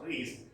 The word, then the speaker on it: Rhys: Now, a postmodern novelist, Jean Rhys, though written Rice, it is pronounced Rhys, a West Indian writer, has written a novel based on this, Jane Eyre.